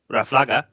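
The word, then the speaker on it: ráfaga: So a blast of wind would be raflaga with an accent on the first A.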